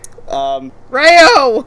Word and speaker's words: Rayo: Rayo! Rayo. Ario Speedwagon. And that otter. Rayo rhymes with gayo.